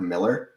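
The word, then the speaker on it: Millar: uh his name is even though it's spelled like that it is mark miller if for anyone who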